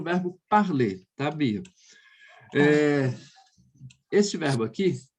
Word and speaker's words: parler: No francês, esses verbos com esse sufixo a gente não vai falar. Então, por exemplo, vai ficar assim, ó. Parler.